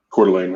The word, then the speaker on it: Coeur d'Alene: Coeur d'Alene, I think.